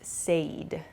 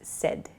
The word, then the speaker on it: said: people I've heard use Sade Sade is not correct so please use said it sounds like s-e-d the pronunciation but it's said s-a-i-d